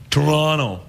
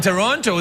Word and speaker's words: Toronto: Or, if you live in Toronto, Toronto. That's how they say it in Toronto. They don't call it Toronto. They say, when you say, where are you from? They say, oh, I'm from Toronto.